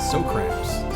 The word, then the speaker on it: Socrams: So apparently there are more vowels in his name than we realized. So it sounds like we're actually supposed to pronounce it Socrams.